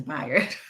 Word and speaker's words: Bayard: It's not Bayard, it's Bayard. Bayard Rustin. It looks like Bayard, but it's not.